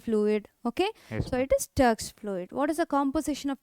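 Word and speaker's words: Turk's fluid: man Turks fluid good you should not pronounce it as turkey fluid tury fluid okay so it is turx fluid what is the composition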